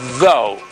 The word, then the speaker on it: though: need to use what you need to use your tongue you need to use your teeth okay y esta casa